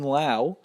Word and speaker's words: Lowe: But let me tell you about Nate Lowe. No, not Brandon Lau, his ex-Rays teammate with the same last name pronounced differently.